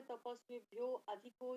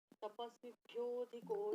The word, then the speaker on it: तपस्विभ्योऽधिको: कुछ लोग पढ़ते तपस्विभ्यो अधिको योगी, ऐसे नहीं, तपस्विभ्योऽधिको योगी ज्ञानिभ्योऽपि मतोऽधिकः।